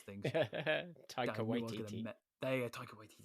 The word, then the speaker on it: Taika Waititi: I can't pronounce things. Taika Waititi.